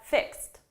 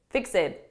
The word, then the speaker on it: fixed: Please do not say fixed, fixed. No. This is a very common mistake I hear advanced students make, and it's pronouncing all ED verbs as id, fixed. We have like wanted, needed, those end in id, but not every ED verb ends in id. Fixed is one of those. So listen, and you tell